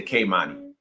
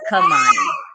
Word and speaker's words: Khamani: I always say Kamani. It's Kamani. It is Kamani. So I was saying it wrong.